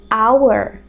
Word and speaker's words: hour: a palavra ora só que a gente não fala How A gente fala our our então ali House hot dog House Hot Dog do outro lado hour hour que é hora Então olha a pronúncia ó our o som ali é de vogal Então a gente vai